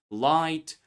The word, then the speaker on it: light: But gh is present there. Yes, it's silent but it changes the pronunciation light night.